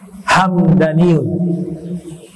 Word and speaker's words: Hamdani: Dibacanya mimnya sukun, Hamdaniyun. Al-Imam Nawawi di dalam Syarah